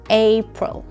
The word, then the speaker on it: April: بدي اياكم تنتبهوا على شغله لما بتقولوا هيدا الشهر، واللي هي انه القسم الاول من هيدي الكلمه A لازم تكون طويله شوي. تمام؟ April.